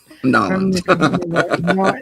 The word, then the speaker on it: New Orleans: the Air Force from New Orleans that's how you say it norleans New Orleans New Orleans yeah New Orleans or norleans or however it is you want to there's variations on it it don't say New